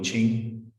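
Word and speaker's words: 經: So Jing or Ching, pronounced differently, means text.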